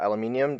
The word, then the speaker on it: aluminium: has a specially designed aluminum or aluminium depending on which nation you're in is how you pronounce it and some blue LED